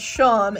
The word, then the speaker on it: Seam: That's the Sham. Oh my gosh, I can never say their name. The kitty from Deltarune, because it's spelled like seam, but it's pronounced like how you pronounce Sean. So it's Sham, and I always mess that up.